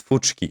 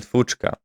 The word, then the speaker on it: fuchka: And what I found very impressive is that I mispronounced the food, the Bangladeshi food, which is called fuchka, but I pronounced it as fuchki, and this is how it wrote it down.